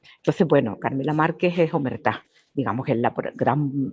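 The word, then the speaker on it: omertà: Si te parece, comenzamos con Claro, Omertá, que parece que sí. se lleva el acento en la última, ¿no? Sí, omertá, sí, hace referencia pues a la mafia, a la camorra, ¿no?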